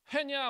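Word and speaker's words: when: 자 이게 wh 자 이게 발음이 뭐야? 웬이야. 웬이야? 웬입니다. H가 소리가 안 나.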